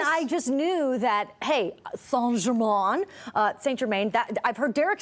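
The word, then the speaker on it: St-Germain: I cannot believe this is happening, Lauren Kelly, because St Germain, as I have been incorrectly saying my entire life, because it's St Germain. St Germain.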